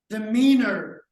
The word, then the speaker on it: demeanor: the day is demeanor it's a three syllable word they mean no but the stress is on the second word the meaner the mean the mean